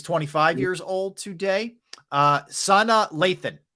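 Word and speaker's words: Sanaa Lathan: years old today uh Sana Lathan I believe that's correct pronunciation excellent actresses tonight Lathan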